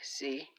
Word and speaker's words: sie: She, sie. Sie. or Z, I should say, because S is pronounced like a Z.